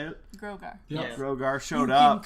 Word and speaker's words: Grogar: Grogar.